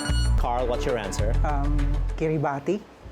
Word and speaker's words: Kiribati: Um, Kiribati. Say that again. Kiribati. Spell it. K I R I B A T I. That's correct. Or Kiribas. Kiribas. is pronounced as kitty bus, but you know, because